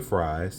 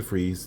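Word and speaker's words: Fries: so real name Victor Fri I'm just playing no I say Victor freeze because that's the way his name is pronounced um in the Batman media so real name Victor freeze the corporation funding Victor's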